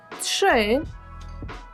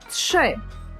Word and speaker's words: trzy: 0 jeden jeden dwa trzy trzy uwaga jak to wymawiamy trzy chociaż widzimy literkę r z a r z czytając trzy trzy dalej cztery cztery kolejne